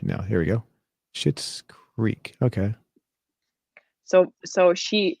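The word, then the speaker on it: Schitt's: you wat did you watch it it's called shit's creek can i say that no you can't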